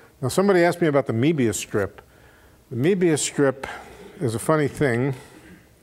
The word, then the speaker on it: Möbius: The Möbius strip is a funny thing.